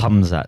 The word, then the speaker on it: Hamzat: Somewhere in between Isaiah and Ethan is the Yeah, it's the right appropriate pronunciation. Hamzat.